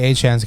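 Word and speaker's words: Achane: Obviously, Achan's coming back. And it's pronounced Achan, motherfuckers.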